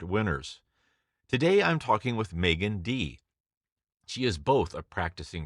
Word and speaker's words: Meaghan Dee: we are again and we have with us Megan D and did I pronounce that correctly yes you did all right